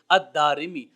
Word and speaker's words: الدارمی: دارمی کی طرف۔ تو اصل لفظ اور تلفظ جو ہے وہ ہے الدارمی، دال کے اوپر زبر، پھر الف، پھر را کے نیچے زیر اور میم کے نیچے زیر، الدارمی۔ اللہ رب العزت کی